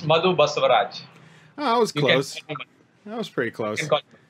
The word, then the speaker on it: Madhu Basavaraj: here and I am joined by Madhu bustled Raj I always pronounce your name wrong can you tell me how it's pronounced err yeah it's muddled bus arrives oh that was pretty close call um I